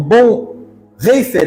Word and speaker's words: Bonhoeffer: E eu termino essas citações com um pensador alemão, o Bonhoeffer, assim que fala alemão? Mais ou menos, essa pronúncia, o ano 1900.